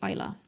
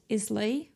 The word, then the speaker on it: Islay: are so distinct and that's Isla it's spelt Islay but you say Isla and as you can